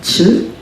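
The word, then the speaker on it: Chöd: And this is a practice that is called Chud. It's spelled Chod.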